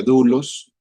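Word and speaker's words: δοῦλος: Aquí, aquí yo pongo la nomenclatura de la de la concordancia Strong en el griego se pronuncia dulos y es la G1401 para los que quieran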